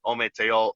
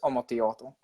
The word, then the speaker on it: Ometeotl: Really, the more historical accurate of the two is Ometeotl. So, and you pronounce the L.